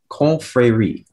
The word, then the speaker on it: confrérie: Speller 25, your word is confrérie. Can you repeat the word, please? Confrérie.